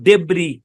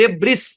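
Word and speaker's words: debris: প্রথমে একটু সহজটা দেখাই এখানে এস্তা সাইলেন্ট এই শব্দের উচ্চারণ ডেব্রি ডেব্রি এস্তা সাইলেন্ট ডেব্রিস না ডেব্রি ডেব্রি মানে হচ্ছে ধ্বংসস্তুপ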